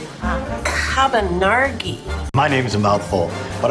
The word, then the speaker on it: Cabonargi: It sounds like a wine. Cabonargi.